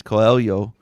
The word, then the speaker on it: Coelho: I want to say it like Portuguese. Coelho.